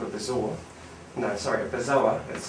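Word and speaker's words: bezoar: had this thing called a bizarre no sorry bizarre as it's pronounced um b-e-z-o-a-r i think that's how it's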